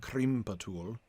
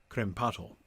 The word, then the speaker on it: krimpatul: be long as well gimbatul and krimpatul instead of crempotel yeah lil atomic i